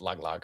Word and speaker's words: Tagalog: our next episode, but I think it's pronounced Tagalog, or because I always say Tagalog as like the language, in the Philippines, but Mm-hmm. it's Tagalog, I guess. It's Tagalog is how you say it.